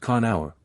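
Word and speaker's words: Conchobar: Conor, properly spelt Concobar and pronounced Conaur, king of Ulster.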